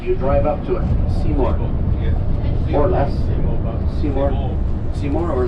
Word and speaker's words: Seymour: Seymour. Or less. Seymour. Seymour or less. It's spelled S-E-Y-M-O-R-E.